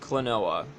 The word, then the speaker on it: Klonoa: klonoa door to phantomile yes that is how you pronounce it klonoa I am salt I'm solidifying that right now klonoa anyways klonoa it's